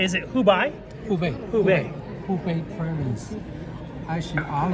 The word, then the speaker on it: Hubei: How do you pronounce it right? Is it Hubei? Hubei.